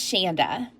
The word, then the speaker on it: Shanda: And hi, I'm your host Shanda. And yes, my name does rhyme with Panda.